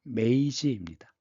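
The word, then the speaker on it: 明治: 그래서 바로이어서 다음에 명치 유신을 일으키죠.이 이 명치가 일본 발음으로 메이지입니다.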